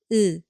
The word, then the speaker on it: 으: This vowel is completely flat, right? It is romanized as like this. Listen carefully. The sound is 으, 으. The flat vowel, 으.